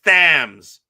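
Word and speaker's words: Thames: No, because you say it's it's the Tim's River. No, that's Thams. That's how you speak English. It's Thams.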